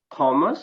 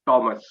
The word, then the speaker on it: Thomas: But you must remember, it is not Thomas, but Thomas. Thomas is pronounced as Thomas.